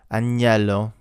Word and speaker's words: agnello: Agnello, like gnocchi.